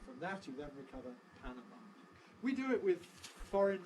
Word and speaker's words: Panama: city in Central America whose Spanish name is Panama Spanish Panama as final stress all right we turn it into English vows we get Panama final stress what do Americans mostly say Panama why because of the Panama Canal or a Panama Hat Panama double stress stress shift Panama Hat Panama Canal Panama City and from that